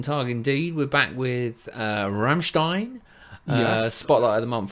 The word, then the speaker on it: Rammstein: Oh, sure, Dave, you say it wrong. Rammstein as in Stein, as in yeah. Rammstein.